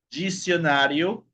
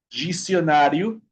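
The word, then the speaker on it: dicionário: Tenemos cuando la letra D se encuentra con la vocal I, ¿okay? Con la vocal I. La pronunciación va a ser más o menos de la consonante Y en español.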